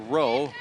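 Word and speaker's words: Reaux: is the baby's name r-e-a-u-x pronounced row baby boy mom and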